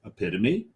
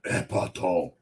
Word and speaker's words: Epitome: There's two ways to say that beer. Epitome. If you don't want to hurt your throat, and epitome. The only 2 ways to pronounce that beer.